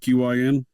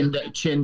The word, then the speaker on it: Qin: How do you pronounce that? QIN dynasty. Qin dynasty.